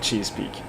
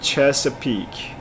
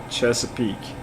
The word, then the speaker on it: Chesapeake: so i don't have any any knowledge about cheese peak all right the question is coming if you guys are ready i'm gonna start reading it in the next 10 seconds just prepare so it's actually chesapeake chesapeake okay interesting i didn't yeah my pronunciation